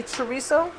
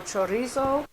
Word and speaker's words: chorizo: Okay, and you can say chorizo or chorizo. Depends. It's like tomato, or how much you want to roll your R's.